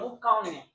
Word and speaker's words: boucané: Boucané. Ouais. J'ai bien prononcé ça?